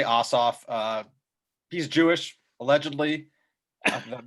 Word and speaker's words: Ossoff: i just i say ossoff uh he's jewish allegedly that matters but um i say ossoff certainly warnock is correct and it's lefler i believe